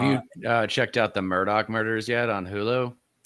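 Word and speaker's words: Murdaugh: Um it's it looks it's pronounced Murdoch, but it looks like this.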